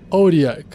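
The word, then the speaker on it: Otyugh: outlooks puxar essa criatura se escreve o t y u g h em inglês e pronuncia auriac mais para frente eu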